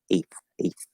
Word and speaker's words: eighth: But I would recommend you just say eighth. So a diphthong plus a voiceless TH, like this. Eighth.